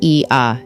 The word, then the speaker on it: Oia: OIA, pronounced Ia, sits on the northwestern tip of Santorini, perched dramatically atop the caldera cliffs.